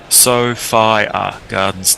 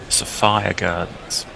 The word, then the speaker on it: Sophia Gardens: Uh, Mudley has reminded everybody pronunciation. Sofia Gardens. Not Sophia Gardens. Safire Gardens.